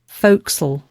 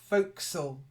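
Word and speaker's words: forecastle: sorry but honestly that's how it is pronounced folksel what all right voxel foursome folks have a listen to um Google folksel folksall so it's like Folk yeah yes foreign that's it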